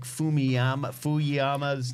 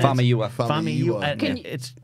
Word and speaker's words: Famuyiwa: Like, there's just like, I can't say Rick Fuyama's name. Right. Famuyiwa.